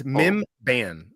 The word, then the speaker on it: Mimban: It's Mimban is how you say it.